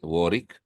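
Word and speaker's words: Warwick: pronounced as War not bik that's how English pronounce it warik w becom silent uh it's top if I'm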